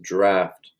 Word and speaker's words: draught: This is actually pronounced draft. And you would need to look it up, but it's a draft. This is the British spelling of draft, which is, there's a